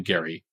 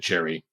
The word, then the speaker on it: Gerry: named after Elbridge Gary he pronounced his name Gary we now pronounce it Jerry so it should